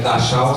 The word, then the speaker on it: Dachau: Se escreve Dachau, se fala Dachau.